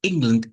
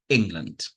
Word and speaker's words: England: The word England is important, but the word England itself was one stressed syllable, in, and one weak syllable, land.